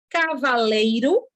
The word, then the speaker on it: Cavaleiro: vamos lá preste atenção cavaleiro Olha a minha pronúncia Cavaleiro e Cavalheiro uma é com l e a outra é com lh isso aqui é o